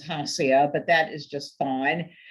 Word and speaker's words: Hasia: And actually, the pronunciation is Hasia, but that is just fine.